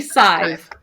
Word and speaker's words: Sadhbh: So she said it was Sadive, I think. Usually Sive. Sive, that's what it was.